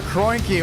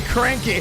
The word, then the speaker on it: Kroenke: Abraham Vila, Alexander Kroenke, or should we say Cranky? We've been saying it wrong for a little while, but he said, I don't mind, I'm just here to win.